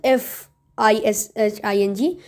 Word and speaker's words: phishing: That is FISHING. This is P. Okay, fishing. This is different, but the pronunciation is mostly the same.